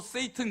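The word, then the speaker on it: Satan: 한자 중국 한자 그럼 사탄은 그 헬라식 표현이에요 헬라 헬라 그러니까 어 사탄 뭐 영어식 표현이라고 해 되고 영어로 세이튼 그러거든요 세이튼 세이튼의 번역이 사탄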